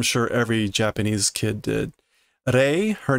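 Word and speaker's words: 零: Rei, her name, means zero. Note, I mean, right, they keep referring to the zero go machine, the zero number, zero unit. But typically in Japanese, zero is pronounced rei.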